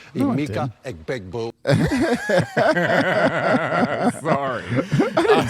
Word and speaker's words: Emeka Egbuka: You mispronounced Emeka Egbuka's name wrong. Emeka Egbuka.